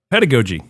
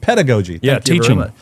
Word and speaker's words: pedagogy: UK literature and culture pedography or ped how do you say that I have a hard time saying that pediog uh pedigogy pedagogy teaching very good study of teaching